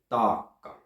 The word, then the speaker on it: taakka: It's pronounced like my last name, Paakkanen. You have a long A, then you have a long K, and then you have a short A after that. Taakka.